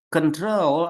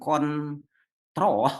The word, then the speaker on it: control: Control ada diptong OU, control bukan kontrol, bukan, tapi control ada diptong OU.